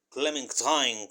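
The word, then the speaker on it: Clémentine: Atlantis es clementine O clementine creo que se pronunciaría en francés porque es francesa Pero no importa clementin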